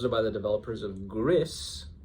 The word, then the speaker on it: Gris: and she asked me about it and I was like, "Oh, those are by the developers of Gris. Maybe it's pronounced Greece, though that would be unfortunate."